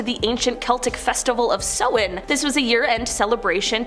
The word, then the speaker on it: Samhain: Starting off this countdown, we have Samhain, which I always pronounce as Samhain, but apparently it's Samhain.